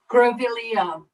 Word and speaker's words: Grevillea: And I knew I was saying it wrong. Grevillea, which is an Australian flower, and it's so beautiful.